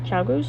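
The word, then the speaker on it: ChiaoGoo: of the knitting needles these are the chayagu chagoos that's how you pronounce and then the chocolate twist down there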